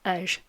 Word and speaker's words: abair: A quick note on the pronunciation of abair. Mine isn't perfect, I'm not a native speaker. I highly recommend you check out Patchy's video on the subject. The main thing is not pronounced R.